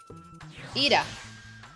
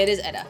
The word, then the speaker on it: Edda: Is it not Ida? Edda? Is it Edda? Do you pronounce it Edda? So the only thing really I need left to work on, at least for today, is... Okay, it is Edda.